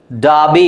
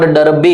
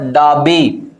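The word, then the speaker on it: Derby: क्या है clock sergeant डाबी इट्स नॉट डर्बी इट is what डाबी half काम form बिहाव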